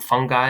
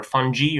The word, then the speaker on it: fungi: one of the types it's either called fungi or funghi or fungi all the work fine to pronounce and then there's bacteria